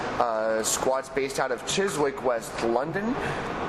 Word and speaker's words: Chiswick: squads based out of Chiswick West London also chz sorry I no my dad corrected me this morning you don't pronounced W okay we have an